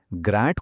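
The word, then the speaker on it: grand: ग्रांट को बोला जाता है ग्रां, डी साइलेंट।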